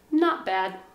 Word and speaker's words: not bad: n not be bad not bad we say it fast not bad not bad we don't pronounce the t very much i can say not